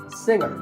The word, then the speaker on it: singer: Another popular word with a silent letter is singer. The G is silent. Now, we say finger, we say the G. Younger, again with the G, but singer, no G.